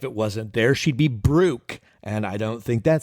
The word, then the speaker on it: Brooke: Brooke is with an E. She utilizes the silent E in the word Brooke. It's common. It happens. She has a bashful E in her name.